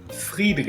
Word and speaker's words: Friedrich: I searched up a pronunciation of Friedrich, and it's pronounced in German, but I couldn't do the weird thing that you do with the R's, so Friedrich.